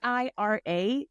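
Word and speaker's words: Eira: How does the audio book call era because it's e i r a the baba yaga. Yeah. Yeah. Isn't it? Yeah. No, that's how they say it. Ira.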